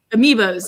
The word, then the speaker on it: Amiibos: Amios, and Amiibos, yes.